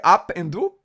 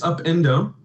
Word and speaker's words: Upendo: And did I pronounce it correctly? Up and Do? It's Upendo.